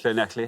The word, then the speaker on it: Llanelli: Llanelli, hello. I mean, we've got Llanelli in a few times Well now.